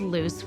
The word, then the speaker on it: Luce: My name is Luce, which rhymes with caboose because that is my position, is with the beginners.